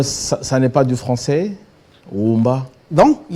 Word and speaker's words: Omba: Omba. Alors il y a la voyelle O initiale qui est en prolongation, qui se prononce de manière intégrale comme en latin.